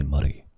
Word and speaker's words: Murray: But if I say Murray, what's your name? Murray. My name is Murray. They're like, what did you do with your tongue there? It sounds like you said muddy or something. So, can't roll your R if you want a peaceful life. If you just want a peaceful life in North America, you can't roll your R, mate. You can't do it.